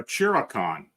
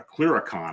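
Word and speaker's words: clurichaun: A chiricon is stealing your spirits. A clericon, I'm sorry, that's how it's pronounced.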